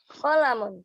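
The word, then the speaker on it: قَلَمٌ: Nah, hati-hati untuk kolamun, jangan sampai ada yang panjang. Enggak ada yang panjang ya. Qafnya Kolam. pendek, lamnya pendek, mimnya pendek. Pendek. Berarti tekanin di mana? Qalamun.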